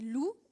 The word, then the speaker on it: loup: Par exemple, si on écrit loup, L-O-U-P, on souligne le P, on dit de toute façon ça tu ne prononces pas, et ça va lui éviter de lire l'OU.